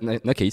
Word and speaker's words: Nakeyz: Ça se prononce comment? Nakaze, c'est ça.